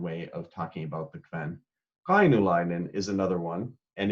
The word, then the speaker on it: Kven: So that KVEN is pronounced Kven. That's just the Northern Norwegian dialect, which is what I speak now.